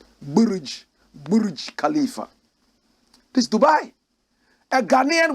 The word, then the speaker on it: Burj Khalifa: Correct pronunciation, Burj Khalifa. Burj Khalifa.